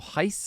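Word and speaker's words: Reis: in kusenov and vikor Heist I've been told that that's how you pronounce it in Portuguese my Portuguese pronunciation is terrible uh but kusenov really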